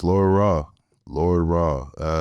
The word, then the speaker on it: Ra: Lord Ra. Ra is spelled with no W. It's spelled like the Egyptian sun god. So R-A, Lordra.